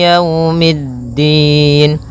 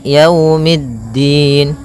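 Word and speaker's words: يَوْمِ الدِّينِ: E tapi dia iikiikiumin pada lafal ya di sini ada bacaan Lin yaitu itu berupa fathah bertemu dengan huruf wau maka yaumiddin kemudian mid langsung ke DA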